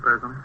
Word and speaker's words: Parazzoni: Captain Kennelly, this is Miss Parazzoni. How do you do? Is that how you pronounce it, Parazzoni? Please meet you. Yes, that's right.